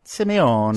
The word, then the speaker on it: Simeone: Well, I pronounce it Simone, but I did some Navy bases for the troops in southern Italy, Sicily. Uh-huh. And everybody pronounced it Simeone.